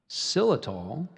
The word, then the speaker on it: xylitol: of the coconut palm and in flowering dogwood cylitol which has been shown in experiments to reverse